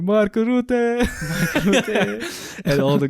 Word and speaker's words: Rutte: in Dutch, you say Rutte. Rutte.